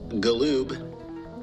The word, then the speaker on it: Galoob: I am your extraterrestrial professor, Galoob, with a hard G.